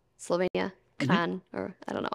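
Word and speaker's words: Kranj: I also really like Kron, Slovenia. Kran, mm-hmm. or I don't know. I always say it like Kron, slightly wrong. I don't know how to pronounce also in Slovenian.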